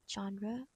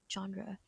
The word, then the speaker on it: genre: The word genre entered the English language in the late 18th century and it retain its French spelling and pronunciation. The pronunciation for the word genre is genre or genre.